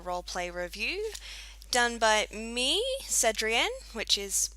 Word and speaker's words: Cedrienne: Hey guys, and welcome to another roleplay review done by me, Cedrienne, which is how you say the name.